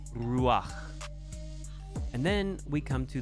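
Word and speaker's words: רוּחַ: So look at Ruach. It's not Ruha, it's Ruach.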